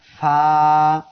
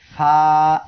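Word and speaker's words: ف: সবাই আমার সাথে পড়েন ফা। ফা অক্ষরটি উচ্চারণ হবে নিচের ঠোঁটের পেট উপরের 2 দাঁতের আগার সঙ্গে লাগিয়ে। ফা 1 আলিফ টান হবে।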